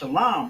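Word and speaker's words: שלום: And then la and m is pronounced shalam, right? So we got to connect the l and the m making that line. Shalom.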